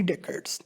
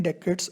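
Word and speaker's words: decade: हेड held office for 3 डेकेड्स, इसको डिकेड भी पढ़ सकते हैं, डेकेड्स अमेरिकन प्रोनाउंसिएशन में पढ़ते हैं।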